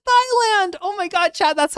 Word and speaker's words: Thailand: Like when you see a TH, it's ta.